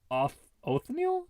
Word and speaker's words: Othniel: Okay, Edward Drinker Cope and Othniel Charles Marsh. Wait, Oatmeal Marsh?